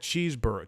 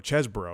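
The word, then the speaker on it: Chesebro: always good uh Kenneth cheeseboro chesboro because pron people have been pronouncing it cheeseboro like a cheeseburger type thing and and Sydney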